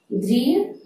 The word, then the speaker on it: দৃঢ়: যেমন শব্দটি আমি লিখে রেখেছি দৃঢ়, উচ্চারণটি কেমন হবে, দৃঢ়, অর্থাৎ র। শব্দটি কিন্তু র নয়, র নয়, র, হালকা ভাবে উচ্চারণটি হতে হবে।